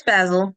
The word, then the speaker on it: Basil: How would I pronounce that? It's Basil.